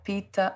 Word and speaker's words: Pitta: I remember the first time I came across Ayurvedic medicine, I read about the Ayurvedic doshas, I think you pronounce it, the Vata, Pitta, and Kapha, if I pronounced them correctly.